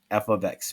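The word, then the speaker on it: f(x): F of x, pronounced as this, f of x, not multiplication.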